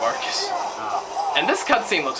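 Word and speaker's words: Arkus: Oh, we were both getting the name wrong. It's the Iron Fist of Arcus.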